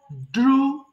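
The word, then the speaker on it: drew: ড্র আঁকা, ড্র, ড্রু, ড্রন। ওকে, এটাও কিন্তু ড্রু হবে, কিন্তু ভুল করে আমরা কি করি? ড্রিউ বলে ফেলি, এটা ভুল হয়ে যায় তাহলে।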